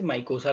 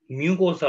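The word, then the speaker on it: mucosa: Layer ही पूछा मैंने, यू आर इन the right direction, but माइकोसा होता है क्या, स्पेलिंग मिस्टेक है, म्यूकोसा होता है।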